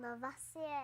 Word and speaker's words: Lavoisier: But I think I need to pronounce it like this. It's French. Antoine Lavoisier.